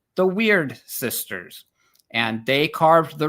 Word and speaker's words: Wyrd: I have heard this word pronounced both weird and weird. What does it actually mean? So I say weird and essentially what we're talking about is the equivalent of the Greek fate.